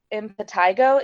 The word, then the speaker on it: impetigo: weren't the cleanest or whatever, and I contracted impetigo.